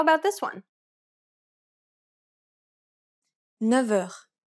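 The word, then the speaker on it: neuf heures: 9 heures. The F takes on a V sound.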